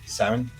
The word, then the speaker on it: Samhain: Well, actually, that's pronounced Samhain in actual Celtic, but in the show, I think they called him Samhain or Samhain.